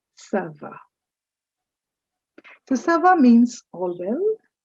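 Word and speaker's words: ça va: lessons at the moment just remember whenever you see that little sign under the letter c understand that c is pronounced as sir and so this word is not kava it is server so sava means all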